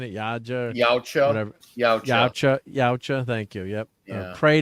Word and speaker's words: Yautja: It's like the Yaja.